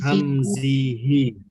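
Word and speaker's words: همزه: Hamzihi. Min hamzihi. Ha besar ya.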